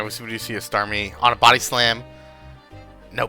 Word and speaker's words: Starmie: It's definitely Starmie. That's what my pronunciations are.